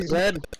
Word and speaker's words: Z: Yeah, that would be Zed.